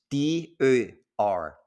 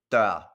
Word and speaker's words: dør: If you pronounce it dør, it means door. Now, the exact same word, if you pronounce it dør instead, now means dies. Same spelling, same three letters, can be pronounced dør or dør.